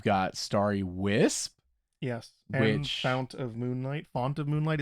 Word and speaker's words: Fount: And Fount of Moonlight. Font of Moonlight. Is it Fount or Font? I believe it's Font, right?